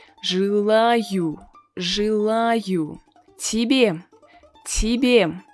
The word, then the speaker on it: тебе: Тебе, тебе. So the first Y is unstressed. That is why we pronounce it as E with a softened consonant, so тебе, тебе.